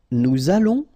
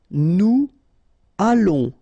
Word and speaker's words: nous allons: Nous allons, remember final S not pronounced. O and together it's on, and then we'll make this little link between the two, what we call the liaison.